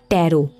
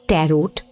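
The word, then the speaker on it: tarot: রনিতা বলল, হতে পারে, তবে কথাটা ট্যারো, নট ট্যারোট।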